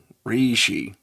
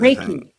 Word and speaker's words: Reiki: had on who talked about uh re uh reishi energy healing that type of raiki. Thank you. I spelled it correctly too but I couldn't pronounce it correctly.